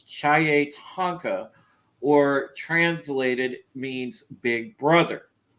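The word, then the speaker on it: chiye-tanka: says um it was it's spelled c h i y e and then the word tonka so it's chai tonka or translated means big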